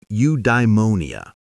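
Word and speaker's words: eudaimonia: Something he called udemonia. Say it like udeimmonia.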